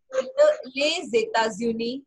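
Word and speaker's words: les États-Unis: ल जापान, ल कनाडा, ले जेता ज्यूनी. Okay this will be pronounce as ल जेता ज्यूनी. Okay I am highlighting this क्योंकि इसकी प्रोनाउंसिएशन थोड़ी सी डिफरेंट है.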